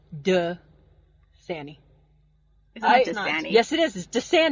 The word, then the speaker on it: Dasani: it Dasani AJC Dasani it's not it's duh Sani yes it is just